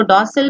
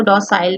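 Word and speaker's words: docile: कुछ इसको डॉसल भी पढ़ते हैं और कुछ इसको डॉसाइल भी पढ़ते हैं. ये दोनों प्रोनाउंसिएशन चलती है.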